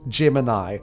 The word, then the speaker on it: Gemini: The Green Lantern makes a cricket-like noise, and it's some sort of trapped AI named Gemini, which when you use Italian pronunciation, sounds like Jiminy.